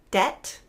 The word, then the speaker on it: debt: silent B really common words are these bomb debt doubt notice I'm not actually closing my lips